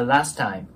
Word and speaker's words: last: ねなのでここがラストタイムっていう感じで T を発音しないように注意してくださいもう 1度通して発音すると The Last Time こんな感じですね